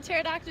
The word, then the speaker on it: pterodactyl: Why can't you hear a pterodactyl use the restroom? Cause it has no pee. Yeah, the P is silent.